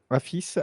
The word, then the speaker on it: AFIS: vous tomberez sur sur l'article en complément voilà affice AFIS AFIS comme ça se prononce j'ai oublié de faire ma super van